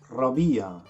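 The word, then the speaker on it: ربيع: start with spring spring in egyptian arabic means rabia say it again and the season after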